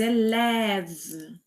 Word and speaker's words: élève: Là je veux dire les élèves les élèves les élèves les élèves doivent pratiquer tous les jours.